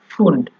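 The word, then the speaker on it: Pfund: রাখার চেষ্টা করবেন ফোন নরমালি আমরা যদি ফোন উচ্চারণ করি তাহলে হবে ফোন আর আপনার এখানে যখনটা যখন থাকবে তখন হবে ফুন্ড মানে আপনার একটু চাপ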